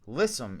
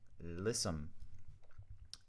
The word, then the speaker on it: lissome: what are we gonna do listen okay so lisum is spelled l-i-s-s-o-m-e lisum adjective the definition is easily flexed or limber